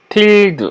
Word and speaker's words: tilde: tilde 이거는 물결입니다. 물결 tilde라고 발음하고요. 슬래시 .exrc고요.